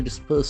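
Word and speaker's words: disburse: pensions to be dispersed disperse d i s b u r s e when you disperse something what happens disperse disperse we can feel the sound s twice to pay out money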